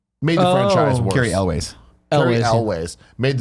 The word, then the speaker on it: Cary Elwes: And some behind the scenes drama with Cary Hughes. Is that how you say his name? Made the franchise worse. Cary Elwes.